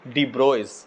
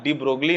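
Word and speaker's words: de Broglie: डी ब्रोगली है ना, लेकिन हम पढ़ेंगे डी ब्रोइज। अगर तुम फॉरेन के टीचर्स को देखोगे तो जनरली हम पाए हैं उनका प्रोनाउंसिएशन के अकॉर्डिंगली इनको पढ़ा जाता है डी ब्रोइज, है ना, डी ब्रोगली नहीं।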